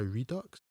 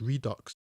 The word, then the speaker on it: Redux: a 49 minute longer version and Apocalypse Now redock is debatable but he this could have been